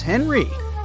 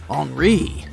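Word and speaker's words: Henri: And this is Henry, but it's more correct to pronounce his name as Enri since he's French.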